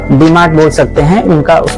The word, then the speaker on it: DMart: You can pronounce Agni Supermart as dmar . Its short name is dmar, so the idea of starting a retail business came to him in 2000.